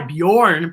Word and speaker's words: Bjorn: has the what sound bjorn is spelled b j and it has a b y bjorn b y sound and